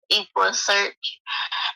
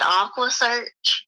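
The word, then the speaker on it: EquuSearch: tired of he he he mispronounced equa equa search and he said Aqua search he screamed I'm so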